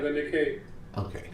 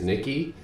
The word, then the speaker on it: Nikkei: The Nikkei. Okay, so cool. My over-pronunciation of what I would normally say is Nikki, but I'm trying to make it sound more complex. I was right.